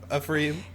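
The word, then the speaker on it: Anfernee: Ephraim. It's like Anthony with an F.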